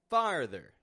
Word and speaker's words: farther: in that muscle movement farther we're lowering our jaw down getting this ah and then pulling back to the r and then a th schw R farther literal physical distance